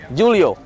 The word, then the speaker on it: Julio: Julio.